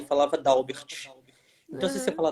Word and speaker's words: Dalbert: Como é a pronúncia do seu nome? É Dalbert? É Dauber. O correto é Dauber.